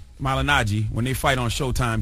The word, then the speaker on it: Malignaggi: How you pronounce Paulie's last name? Malignaggi.